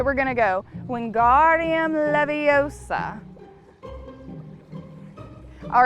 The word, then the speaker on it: Leviosa: wingardium leviosa that's right when guardium leviosa not leviosa all right it's your turn